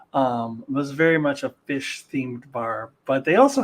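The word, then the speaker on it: Phish: It's actually the Fish Bar. That's fish as in the band with the PH.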